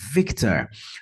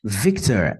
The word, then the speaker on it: Victor: representada pelo código Victor notem que a primeira sílaba é a mais forte Victor Victor em seguida o w representado